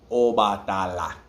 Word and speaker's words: Obatala: If you say it quickly, wobatala. If you're saying it slow, obatala. That's how you say it. Next, chango. Emphasis, so obatala, the emphasis is on the last A, obatala.